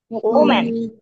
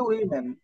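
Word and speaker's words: women: ওম্যান ওম্যান কি লিখেছি ওম্যান ওম্যান আচ্ছা এটার বহুবচন আমি লিখি ডব্লিউ এম ই এন এটা কি বলো দেখি ওম্যান এইটার উচ্চারণটা হবে উইমেন ঠিক আছে উচ্চারণটা হবে উইমেন আর এইটা হবে উম্যান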